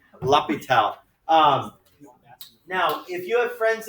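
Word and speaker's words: L'Hôpital: his name is the hospital that's how you pronounce his name lapitel now if you have friends in ap count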